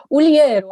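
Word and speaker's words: Ulieru: Uliriu. Is that all right? Uliero, I thought you can pronounce it. It's like in Italian, so but I'm not Italian, I'm Romanian.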